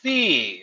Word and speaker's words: SIE: The C. Like you're gonna go see a movie. There we go. But it's spelled SIE.